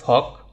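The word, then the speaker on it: flock: এখানে যদিও উচ্চারণে মানে এখানে বানানে এল আছে, বাট উচ্চারণ করার সময় এখানে এলটা উচ্চারণ হবে না, এটার উচ্চারণ হবে ফক।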